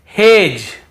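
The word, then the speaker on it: hedge: फिर देखिए हेज और वेज, यहां पर भी डी को हम नहीं पढ़ रहे हैं, ब्रिज, एज, हेज और वेज।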